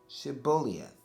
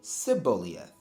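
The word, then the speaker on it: Shibboleth: said to him then say shibuyath shibolieth and he would say seboliath and so that showed them that he couldn't pronounce the way he pronounced it like an ephraim would pronounce it that's all so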